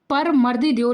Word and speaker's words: परमर्दी देव: इनका उच्चारण परमर्दी देव लिया जाता है, या हम परमार भी कह सकते हैं।